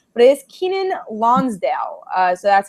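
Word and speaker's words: Keiynan Lonsdale: We wanted to get it right, but it is Kenan Lonsdale. So that's how you pronounce his name.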